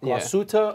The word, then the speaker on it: Glashütte: Glashütte Original that we found out that's the way to pronounce that.